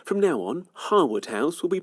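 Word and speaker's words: Harewood: 18th century country estate many people make the mistake of calling the grade one listed mansion hawood house because well that's how it's spell the latest Lord Harwood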